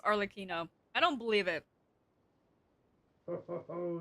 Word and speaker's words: Arlecchino: Well, bye for now, Harlequino. Can't believe it's pronounced Arlecchino.